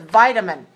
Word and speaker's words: vitamin: second provided okay and vitamin has three syllables stressed on the first vitamin okay be careful don't